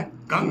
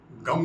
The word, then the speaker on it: गं: है गणेश विद्या व क्या गंग है गम नहीं तो ओ गंग गणपते